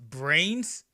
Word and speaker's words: Vrains: did you know that in Japan you pronounce a V with a B sound so brain just pronounced brains like the English word brains yuusaku just happens to